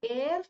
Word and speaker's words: heir: Though Ram was the heir to the throne, heir to the kingdom, varis, descendant, the next in line, the lineage goes forward. So Ram was the heir. H-E-I-R. H is silent.